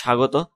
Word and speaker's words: স্বাগত: তো পদের আদিতে অবস্থিত ব্যঞ্জন বর্ণের বফলা যুক্ত হলো বফলার কোনো উচ্চারণ হয় না, যেমন জ্বলন্ত, জলন্ত, জ লৌকাল্য, ন তৌকাত্ত। হ্যাঁ, জ্বলন্ত, তারপর স্বাগত, তালিবা শাখা সা, গ তৌকাত্ত, হ্যাঁ স্বাগত ইত্যাদি।